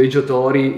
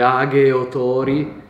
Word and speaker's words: Age Otori: egot Tori è diciamo noi la pronunciamo appunto otori Ingles zzolo Però in realtà sarebbe agot tori che è una parola